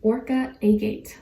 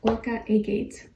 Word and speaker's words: Orca Agate: And then your crystal is Orca Agate. Orca Agate. O-R-C-A and then A-G-A-T-E. That's how you say it.